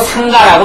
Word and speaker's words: 상가: 출거자 출가자에게는 4바라의죄가 되는데 바라의죄는 출가자의 자격을 박탈당하고 상가에서이 상가라는게 뭐 죽은 집 상가가 아니라 승가의 원래 발음으로 상가라고 말을 하는 거예요.